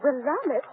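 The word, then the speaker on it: Willamette: of the garden spots of the world uh wamit how do you spell it w i l l a m a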